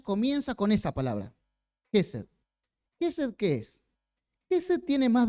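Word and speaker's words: חסד: Lo importante es que nos acordemos que hay una palabra, en este caso se pronuncia aproximadamente Gesed, que es la palabra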